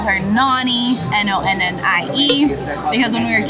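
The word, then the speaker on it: Nonnie: my mom's side, and now we call her Nani, N-O-N-N-I-E, because when we were kids, we didn't know how to pronounce it, and so we've just stuck with Nani ever since.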